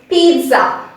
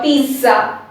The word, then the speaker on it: pizza: but when we pronounce we include a t sound over here that is for the first syllable we say p e e t p and for z z a we don't include the z sound we bring the s sound okay so when i'm saying it you must have noticed